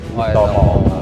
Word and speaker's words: Oetomo: Ejaan lama Edi Budi Utomo. Iya, kita baca Raden Edi Budi Utomo.